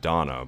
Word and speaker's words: Dana: on top of that, now you have Donna, but it's spelled Dana.